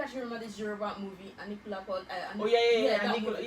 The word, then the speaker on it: Anikulapo: Anikulapo. Okay. Okay, Oh, alright. not Putti, obviously. Yes. Sorry. Okay, alright. So now, I don't know if you actually remember this Yoruba movie, Anikulapo.